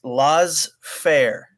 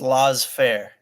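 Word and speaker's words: laissez-faire: like you really know I think it's pronounced law fair okay nice that's how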